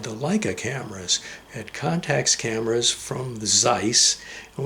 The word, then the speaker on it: Contax: That's because these Contax, it doesn't have the K sound at the end. It's not a contact lens. It's a Contax lens.